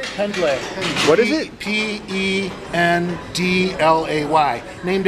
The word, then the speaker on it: Pendlay: Pendlay.